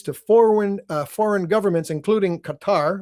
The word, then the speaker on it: Qatar: They're building a network that maintains ties to foreign foreign governments including Qatar, or Cutter, as which is the the ridiculous way to pronounce the name of that country.